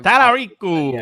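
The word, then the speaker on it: Talarico: Tallarico.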